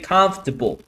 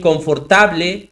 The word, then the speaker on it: comfortable: So, lo que pasa acá es que esta OR normalmente la omiten, no se pronuncia. Entonces, tú pronuncias con el sonido de la F, comfortable. Instead of saying confortable or comfortable, you say comfortable.